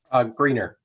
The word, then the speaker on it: Greener: please help me with the pronunciation of your last name. Greener. Greener, thank you very much.